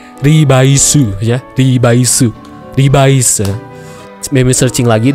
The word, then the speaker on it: Revice: Kalau teman-teman tahu Revice itu, kalau kita pronounce ke bahasa Jepang, penyebutannya itu jadi Ribaisu ya, Ribaisu.